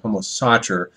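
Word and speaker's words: homo sacer: Seer um I think the correct pron pronunciation of homo secer is actually homo Sater uh but I find that harder to say so I'm going to stick with the pronunciation as homo saer which I've heard other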